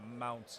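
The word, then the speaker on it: Maunz: meow meow okay okay mounts I believe is how it's pronounced m-a-u-n-z mountains I love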